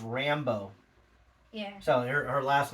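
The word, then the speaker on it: Rambeau: And she plays Monica, and it's pronounced Rambo.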